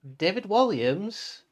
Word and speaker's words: David Walliams: you today's book is oh make sure i pronounce his name properly written by none other than david walliams the creatures choir the british star david williams